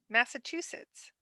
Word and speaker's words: Massachusetts: Paul you how do you pronounce it Massachusetts with the T sound you master yeah all